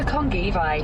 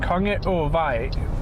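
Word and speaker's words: Kongevej: Turn left onto Kongi-Vai, Route 32. Kongi-Vai, so that in that Danish, and it's pronounced Konge-Vai, which means King's River Road.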